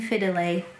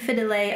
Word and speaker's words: Fidele: is Mackin and Fidele, which I wanted to pronounce Macquin and Fidel, and then I listened to the audiobook and I'm pretty much wrong about every name ever. Mackin and Fidele are much nicer sounding.